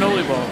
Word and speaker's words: oliebol: Oliebol. There you go. Am I pronouncing it right? Yes. It's an oliebol.